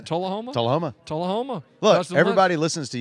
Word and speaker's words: Tullahoma: Tullahoma. Tullahoma. Tullahoma.